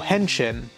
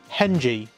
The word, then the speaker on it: henshin: Now at this point it's worth pointing out that they're not able to transform, or henshin, or as I've mispronounced before, henji.